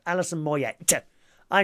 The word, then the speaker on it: Moyet: darling Jackie says oh it's a French name Alison Moyet that's why that T isn't pronounced Alison Moyet yep I say mo